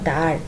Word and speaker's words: দ্বার: যেখানে কিসের পার্থক্য হচ্ছে দেখো, উচ্চারণ একই মনে হচ্ছে, শুধু বানানেও কিন্তু কি একটা ব ফলা যোগ করা হয়েছে।